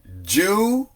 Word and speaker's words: Judah: See, Judah. 2 syllables.